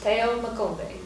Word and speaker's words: Theo Makombe: Your name is Theo Makombe. That's how we say it. How do you say your whole name? That is perfect. Theo Makombe.